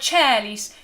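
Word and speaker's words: caelis: And this word cellis is just like the chair that I am sitting on. Decellis, the cellis. Okay? So wide open air vowel, cellis.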